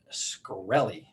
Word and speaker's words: Shkreli: hedge fund veteran martin i'm probably going to pronounce this wrong shkreli that's how i'm going to say it all